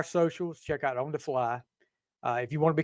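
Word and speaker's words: Flythe: And it's F LY T, not F L Y. F L Y T H E. So, it that's where I'm from in the south. It's that's pronounced fly. The th is silent.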